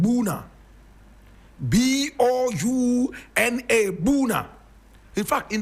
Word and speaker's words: Bouna: Now when you go to the Ivory Coast, there is a small town there called Bouna.